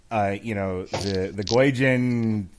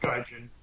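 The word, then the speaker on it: 外人: they were doing the Goijin, white guy being trained by the old Chinese master. Only he's Japanese. Doesn't matter. Who cares? The old Asian master. Pronounced Gaijin. Thank you.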